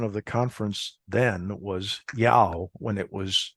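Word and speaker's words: JAOO: And the way that they pronounce their J's is like more like a Y. So that's the pronunciation of the conference then was yao when it was j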